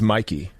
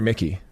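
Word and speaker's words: Miki: It's Mikey. Mikey? Is it Mikey or Mickey? Mikey. Mikey. All right, Mikey. But it's spelled Mickey. Yeah, M-I-K-I.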